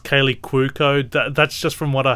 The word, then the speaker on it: Kaley Cuoco: family, but he basically falls in love with Kaylee Cuoco, and there's the romance of the piece.